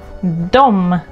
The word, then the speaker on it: de: They, dom. Mind the pronunciation. It is spelled like de, but we pronounce it like dom.